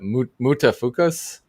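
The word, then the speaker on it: Mutafukaz: actually was uh uh pronounced i think uh muta fukus uh was m-u-t-a-f-u-k-a-z something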